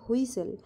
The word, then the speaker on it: whistle: উজ্জ্ব রাখতে হবে, অর্থাৎ টি এর উচ্চারণটা আমরা করব না, কিন্তু বানানটা লেখার সময় লিখতে হবে।